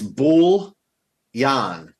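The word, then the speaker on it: bouillon: you googling it Shy it's bull Yan like wool but with a B so so the L's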